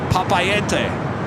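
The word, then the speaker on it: Papeete: heading to Pap no we had a pilot come by on Sunday and tell me how to say it correctly papay papay we'll be heading to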